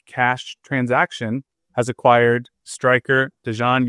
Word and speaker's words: Dejan: I would say like his first name is kind of like Deion Sanders, but it's Dejan.